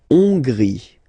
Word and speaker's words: Hongrie: La Hongrie. So remember, H doesn't exist, so you don't pronounce it. So it starts with O-N, on, and then gris.